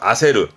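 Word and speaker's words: 焦る: 뒤에 루가 나올 때 발음은 그렇죠. 아세르 이거는 말 그대로 초조한 이때 초는 초조함의 초예요.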